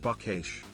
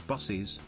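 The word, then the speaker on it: Buc-ee's: I often stop at buckesh I saw a video of someone mispronouncing it as bossies and you know that's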